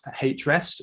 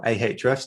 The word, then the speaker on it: Ahrefs: tim solo tim is uh the cmo at hrefs or ahrefs depending on how you're going to pronounce it um but uh let's go with